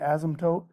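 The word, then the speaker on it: asymptote: as an ASM tote usually the P's kind of Silent we usually say ASM toot but it's spelled ASM tote and basically that is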